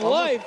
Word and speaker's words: Leaf: Well, Leaf is pronounced Life.